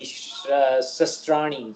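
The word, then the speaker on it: शस्त्र: So that's Na inam chidanti shastrani something.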